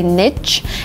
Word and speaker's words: niche: The next word is niche, and I say niche, but really, it's better to say niche, and niche is more conservative, more academic, and this is the better way to pronounce the word